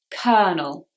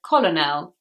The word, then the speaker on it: colonel: Colonel, colonel. I'm sure you can imagine how I said this word as a child. I said colonel, which is what it looks like. But actually the first L is silent.